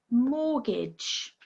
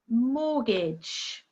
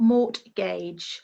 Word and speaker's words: mortgage: last one listen again mortgage mortgage so what's the silent letter here well it's a silent T Mortgage not Mort gaug so again when you